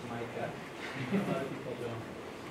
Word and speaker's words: Maaike: So, first of all, Micah's name is pronounced Maaike.